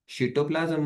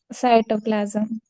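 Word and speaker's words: cytoplasm: बाहेर येतो न्यूक्लिसच्या बाहेर येऊन कुठे येतो तो सिटोप्लाजम मध्ये येतो सिटोप्लाजमटो प्लाजम सिटोप्लाजम मध्ये आला सिटोप्लाजमच प्रॉपर प्रोनन्सशन कोणाला येतय का तुमच्या दोघीपैकी येतय तुम्ही याला काय म्हणता बटोप्लाजमला सायटोप्लाजम कोणी शिकवलं तुम्हाला र टीचर न प्रॉपर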